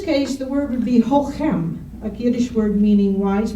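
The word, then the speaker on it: chochem: but I'm told that the CHs are pronounced as though they're sort of a guttural H. So in this case, the word would be hochem, a Yiddish word meaning wise man with overtones of wise guy.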